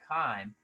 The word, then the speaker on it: chyme: turns everything into chyme uh and that word is spelled c-h-y-m-e chime and that time is the uh is very